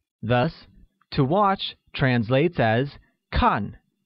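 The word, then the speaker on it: 看: to watch translates as khan which is pronounced with a falling tone thus i don't like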